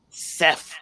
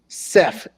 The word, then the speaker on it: Seth: Seth Rollins. Seth. SEFF.